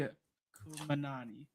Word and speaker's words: Khamenei: The name Ayatollah Ali Khamenei, I think is how it's pronounced.